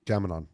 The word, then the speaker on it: Gam-Anon: Gamanon.